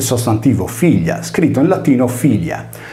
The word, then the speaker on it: filia: Prendiamo ad esempio il sostantivo figlia, scritto in latino filia. Qui la prima I, su cui cade l'accento, è una vocale, poiché si lega solo alla consonante iniziale F.